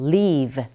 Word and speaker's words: leave: 발음하실 때 V 발음 보이시죠? leave 아니라 leave. 자, 이 발음과 여러분들이 잘 알고 계시는 살다라는 동사 leave. 자, 어떻게 차이가 나냐면 동사 leave는 좀 길게 발음이 됩니다. leave. 그리고 살다라는 동사 얘는 live. live 짧게 발음하시면 돼요.